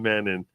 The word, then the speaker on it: Mannion: Also, Dom Mannion, mispronounced Mannion. I do always say Mannion. It is Dom Mannion.